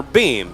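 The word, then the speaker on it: Behm: Boehm or Beam? B-E-H-M.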